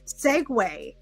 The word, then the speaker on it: segue: how it's spelled like who looks at that word and goes segue it's seu it's it's